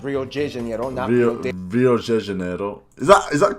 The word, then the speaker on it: Rio de Janeiro: from the old capital rio de janeiro that's right it's pronounced rio de janeiro not rio de janeiro get it right we're not in mexico this is portuguese not spanish this was oh i